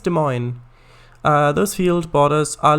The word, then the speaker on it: Des Moines: i think it's pronounced demoiny demoiny i think it's des moines uh those field borders